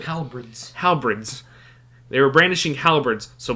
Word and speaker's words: halberds: Halberds. I was mispronouncing it. Halberds.